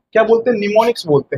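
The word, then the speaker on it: mnemonics: पता है क्या बोलते निमोनिक्स बोलते हैं निमोनिक्स ठीक एम साइलेंट होता है इसलिए नि एन से पढ़ा जाता है निमोनिक्स और ये जो है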